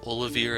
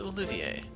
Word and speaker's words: Olivier: in the Sky, I kept saying the name Olivier as Olivier. This is, like, it's a legitimate French name, it's just, since they never actually said how the prince's name is supposed to be pronounced, I wasn't sure what they were going for. But this is Olivier.